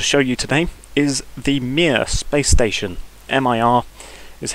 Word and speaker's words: Mir: i have to show you today is the mere space station mir is how it's spelt and it's a soviet russian space station